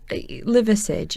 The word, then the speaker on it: Liversidge: you know right metric liversidge so if you break it down its liver sitch it's exactly it sounds exactly how you'd write it so I can't quite